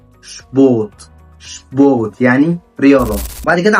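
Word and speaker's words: Sport: اللي معانا بعد كده شبوت شبوت يعني رياضه معى هنا مقطع الاسم بيتنطق شباه شباه وصل لحد ما تنساش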